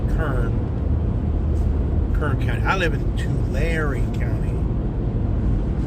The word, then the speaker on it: Tulare: I live in Tulare County. Think of like two and then Larry.